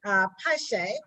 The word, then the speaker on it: Piesie: Kofi Piesie. Am I saying it right? Piesie, yeah, that's right.